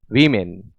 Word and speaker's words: woman: इसका जो singular form होता है WOMAN, इसे आप वुमन पढ़ें, ओमैन नहीं। आपको पढ़ना है वुमन। मुंह को गोल करेंगे, प्रोनाउंसिएशन करेक्ट हो जाएगा। W से शुरू होने वाला।